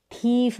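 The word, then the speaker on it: thief: उसको थिफ नहीं बोलेंगे, थीफ बोलेंगे। क्या बोलेंगे, थीफ। तो इस तरीके से अगर जो साउंड है बड़ी के रूप में आएगा ना, तो वहाँ पर आप आई ई लिखेंगे, जैसे इन स्पेलिंग्स में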